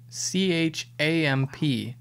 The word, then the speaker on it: champ: chomp at the bit apparently in uh the uk originated as c-h-a-m-p at the bit i don't know if